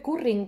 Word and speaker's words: Currin: se llama john carlin se escribe currín como el curry pero por un adn al final no sé en inglés los ingleses no hacen viva vibrante múltiple o sea no pueden decir jong-ku ring porque eso ese sonido no existe en esa lengua ni la jota